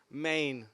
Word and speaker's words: Men: properly four four mean how do you pronounce it properly main that's it I would just call it any men and then I'll get